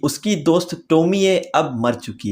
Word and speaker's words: Tomie: story टोमी ए हां इसकी spelling भले ही ऐसे लिखी हो मगर इसका ओरिजिनल प्रोनंसिएशन है टोमी ए एंड हां इस मांगा